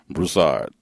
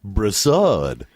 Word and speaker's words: Broussard: Broussard. Yes, Broussard. Yep. It's a French name with a Creole background.